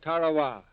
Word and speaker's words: Tarawa: NOW LADIES and gentlemen, there's a tiny island in the Mid Pacific called Tarawa. That pronunciation, incidentally, is from the National Geographic Society.